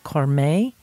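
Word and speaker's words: Cormé: thousand bottles of this and that is the corm that is spelled c-- o r m e i pronounce it as car Mae and it is exquisite absolutely exquisite the more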